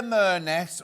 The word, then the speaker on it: Merness: Merness rhymes with Loch Ness.